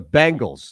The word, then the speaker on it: Bengals: From a reliable source, the Bengals. Now, did I pronounce that correctly, Ron Culver? The Bengals.